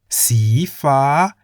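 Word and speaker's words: สีฟ้า: express the right tone the word c for example has two syllables the first syllable c means color and is in the rising tone the second syllable fa meaning sky is in the high tone C far is therefore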